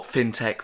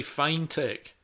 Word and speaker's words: fintech: It's pronounced fin, isn't it? Does anyone say fine tech? If they did, it would have an E in the middle, wouldn't it?